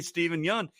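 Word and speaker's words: Steven Yeun: he's like you know you've been mispronouncing my name the entire time and he's like what the man we're friends but it's apparently stephen young and he never corrected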